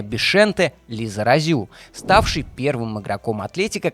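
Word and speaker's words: Bixente: совсем юном возрасте, и Бискант, или более баскский вариант произношения, Бишенте Лизаразю, ставший первым игроком Атлетика, который родился во Франции, во французской Басконии, где и начинал свою карьеру.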